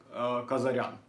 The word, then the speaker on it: Kazarian: gonna be Kazarian cuz I am that's basically how you pronounce it in Russian language and that's also how